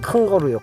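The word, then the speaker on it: kangaroo: 이 단어 를 강하게 발음 하면 " 근 - 거루 " 가 됩니다 . " 근 - 거루 ." 그러면 외국인들 이 들었을 때 " 캥 거루 , 캥 거루 " 처럼 들리도록 계속 " 캥 거루 "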